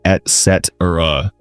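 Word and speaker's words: et cetera: People say excetera, but it's etc. Yeah, and don't forget, it's et, not ex. Right, etc. is Latin for and the rest, so it's et, like and.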